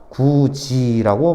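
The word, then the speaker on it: 굳이: 잘못 생각하지 마세요 그냥 디귿이 지읒으로 바뀌는 거야 그냥 알겠지 이거 어차피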